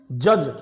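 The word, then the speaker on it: judge: जज जे यू डी जी ई। यहां पे डी साइलेंट रहेगा।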